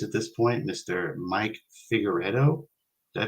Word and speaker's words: Figueredo: maybe three years at this point Mr Mike figueredo did I pronounce it yeah no that was that was